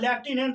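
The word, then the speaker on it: lieutenant: जैसे लटिनेंट लटिनेंट मतलब लेफ्टिनेंट होता है आप लोग लेफ्टिनेंट बोलते हैं लिखाता है लटिनेंट तो वहां पर ठीक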